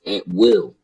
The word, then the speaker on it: Atwell: So when I looked up Atwell, I came to the a saying it's actually pronounced at will, and it's a British.